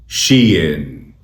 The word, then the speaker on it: SHEIN: इस कंपनी के नाम की सही प्रोनाउंसिएशन है शीइन, शीइन, शीइन, शी इन, शी इन, शी इन, शीइन, शीइन, शीइन।